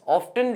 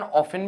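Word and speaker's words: often: ऑफन losing the brightness, ऑफ्टन losing the brightness कहा जाता है, वैसे इसका उच्चारण ऑफन भी हो जाता है।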